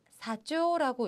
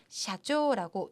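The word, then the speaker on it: 社長: 약간 잘못 생각하시는 분들이 계셔서 사조라고 읽으시는 분들이 굉장히 많으세요. 그렇지 않습니다. 샤기 때문에 샤조라고 샤 발음을 읽어주셔야 돼요.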